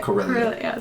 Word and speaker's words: Corellia: I can't pronounce it. Corellia.